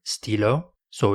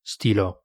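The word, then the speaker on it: stylos: an S at the end of the word Stilo so it becomes Steelo okay it's not stilos it's Stilo still pronounced the same I've heard the trick question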